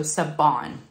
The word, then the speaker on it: Siobhan: shop and it's coverminders Saban a lot of people wonder how you say her name it's with a b as in boy not a v so sabon I know it's a